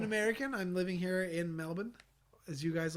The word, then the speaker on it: Melbourne: I'm living here in Melbourne, as you guys like to call it. I would call it Melbourne because that is how it's spelled.